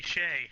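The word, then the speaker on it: Skjei: Uh, the name might throw you off because it's spelled Skjeej, but it's pronounced Shea.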